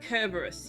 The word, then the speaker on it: Cerberus: Hades three headed down Cerberus pronounced kerberus yeah in Greek cus means spotted Hades named his dog spot too uh i' I've always been told it was pronounced Cerberus and I've always pronounced it Cerberus I've never heard it pronounced kerberus put the kid's head